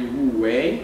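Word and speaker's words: 无为: ami a kínaiból jön kínaiul ú úgy hívják hogy w way a mandarin kiejtés szerint és koreul mui ez szó szerint nem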